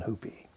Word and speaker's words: Hupe: of our last name because of the pronunciation hoopie anyway it was all